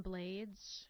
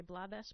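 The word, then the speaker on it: Rubén Blades: my heroes is Ruben blades he pronounces his last name that way so um I feel okay doing the same although I instinctively want to say blades but anyway you know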